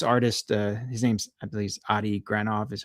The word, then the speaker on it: Adi Granov: And then what ended up happening was this artist, his name's, I believe, Adi Granov is how you say it.